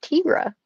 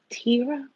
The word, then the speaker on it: Tira: Hi, Um, Tyra. Thank you so much for hey joining. Tyra, what's up, girlfriend? It's actually, we've been saying her name wrong. Her name is Tira. Tira, my bad.